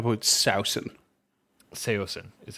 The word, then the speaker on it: Saosin: Saosin is how it's pronounced.